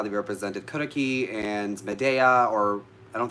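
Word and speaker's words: Circe: pan how they represented karaki and medea or i don't think the day was it was turkey they said cersei it's karaki um everything like that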